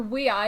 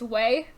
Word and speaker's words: WEi: like to say it took me a long time to figure out that you pronounce this your wee i and not just way because that's what it looks like we were pronouncing it